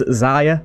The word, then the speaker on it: Xia: This is Xia, as I think it's pronounced, X-I-A.